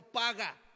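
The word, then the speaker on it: פגע: porque la palabra interceder viene del verbo hebreo paga así se pronuncia el verbo hebreo paga y significa buscar auxilio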